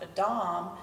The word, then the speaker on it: Adam: actually a Hebrew word it's pronounced Adam in Hebrew and it has a